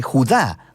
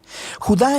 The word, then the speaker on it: Judá: la carta de Judas o más precisamente Judá de acuerdo con la pronunciación de su nombre tanto en griego como en hebreo Judá Era uno de los